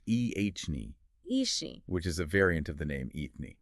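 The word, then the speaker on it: Eithne: are rooted in history MH that's true like itne oh yes pronounced ehne which is a variant of the name eany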